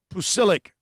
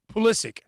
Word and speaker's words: Pulisic: It's like Pusilic. I'm not pronouncing it right. Anyway, whatever. Pulisic.